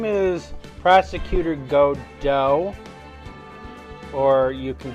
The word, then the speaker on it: Godot: how it's spelled, is Godot. So, because I'm unfamiliar with a silent T in our English language, but there might be a silent T in one of our words.